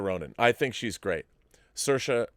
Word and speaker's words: Saoirse: Saoirse, as she will tell you, like inertia. So if you ever want to know how to say her name, it's Saoirse Ronan. And remember, Saoirse like inertia.